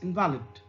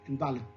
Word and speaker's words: invalid: A shift in stress, that is of relative forcefulness or loudness of a component element in an utterance from the first to the sound syllable, convert the noun invalid into the adjective invalid.